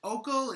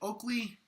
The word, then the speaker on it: Oikle: Jaime, is it Oikle? Is it Oikle? How do I pronounce it? Oikle. Yeah, Roger.